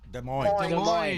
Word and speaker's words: Des Moines: Is that how you pronounce it? Des Moines.